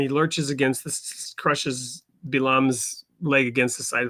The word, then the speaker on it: Bilam: In Hebrew, it's Bilam.